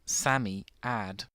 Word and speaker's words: Psammead: Samiad is pronounced Sammyad.